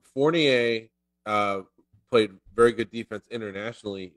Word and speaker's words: Fournier: He's French, Kyle. You're like Fournier. No, I'm getting phonetic. Fournier. It's like beignet. It's like beignet, but Fournier.